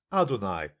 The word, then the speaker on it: Adonai: So when a Jew sees that word in writing, he pronounces it adonai, which means something like sovereignty or lord.